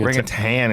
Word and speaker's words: orangutan: Unfortunately, one of the uh or the orangutane. I don't know how to say it. Rang rangutan is how they say it spelled, but I say rangutang cuz I'm from Tang there. I'll put a G.